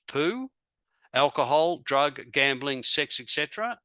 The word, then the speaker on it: POU: My POU, poison once used, pronounced poo.